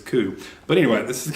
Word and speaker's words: Coup: who ever sees it it's gonna try to call it coupe and they're gonna go wide to pronounce Koo and you have to explain to them that that word is Koo but anyway this is